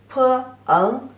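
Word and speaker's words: 朋: Pronounce it as peng, peng, the second tone.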